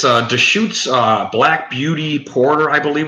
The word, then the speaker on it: Deschutes: good yeah but yeah Deschutes I thought I was like discovering something you know oh good it's just shoots black beauty Porter I